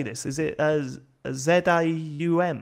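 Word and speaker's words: ZA/UM: Is it ZAUM? It's Zauam. Zauam.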